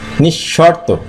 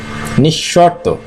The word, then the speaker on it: নিঃশর্ত: ধার্য, নিঃশর্ত, নিঃশর্ত। যেখানেই বিসর্গ পরবর্তী অক্ষরটা উচ্চারণ দ্বিত্ব ঘটছে, নিঃশর্ত।